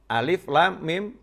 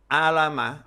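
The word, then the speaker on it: الم: membaca tahu ada tulisan Alam Nasroh Hai sama Alif Lam Mim disandingkan alif.lam.mim kalau saya juga sama Alif Lam ketemu mim Hai di surat yang lain alamnasroh alif.lam.mim Nasroh Nanti kalau kita ini orang yang bisa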